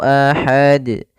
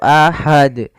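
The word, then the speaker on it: أحد: Kemudian pada lafal terakhir harus memantul karena di sini ada bacaan qalqalah. Ada kesalahan yang terjadi yaitu membacanya dengan tidak memantul. Misalnya ahad, qul huwallahu ahad. Nah, ini salah. Harusnya dipantulkan ahad.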